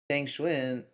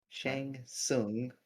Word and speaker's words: Shang Tsung: Yeah, However, on the other hand, Shang Xuan, or how are we Shang Tsung. pronouncing? Shang Shung, yeah, Shang Tsung, There we go.